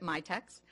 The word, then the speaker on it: MITX: myex community mitx um most people pronounce it myex and um we're a